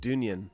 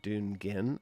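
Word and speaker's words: Dungen: a big fan of dunyan well so i don't know if they pronounce it dun gin i've heard them pronounce it dungeon i've also heard people pronounce it dunyan here i'll type it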